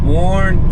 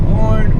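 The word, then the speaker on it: Boerne: Let's get to our first stop in Bourne, Texas. I think that's how you pronounce it. Bourne, B-O-E-R-N-E, I believe.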